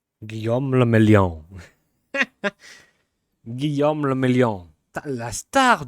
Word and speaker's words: Guillaume Le Million: Guillaume Lamillion. Guillaume le Mélian. Guillaume le Mélian. La star du disco, c'était un Français. If it doesn't rhyme, you're not pronouncing it right.